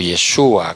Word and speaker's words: Yeshua: El nombre Jesús proviene del hebreo Yeshua o Yeshua con acento en la U y significa Dios salva.